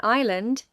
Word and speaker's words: island: In "island", the "s" is silent.